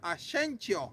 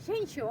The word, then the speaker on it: Asensio: Y como aquí no pueden pronunciar mi apellido, porque mi apellido es Asensio. Ajá. Entonces aquí me dice Asensio. Ay, Chencho. Asensio. Sí, sí, Asensio. Asensio, le digo.